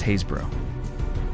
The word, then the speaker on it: Happisburgh: It's pronounced Haysbro.